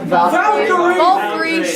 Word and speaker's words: Valkyrie: How do you pronounce this again? Valkyrie.